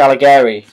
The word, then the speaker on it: Alighieri: of dante himself oh gary that's how you pronounce it dante alleghery no i'll i that you know what i